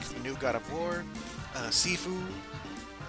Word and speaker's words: Sifu: new God of War, Sifu, not seafood, but Sifu, or is it Sifu? It's spelled S-I-F-U, that one.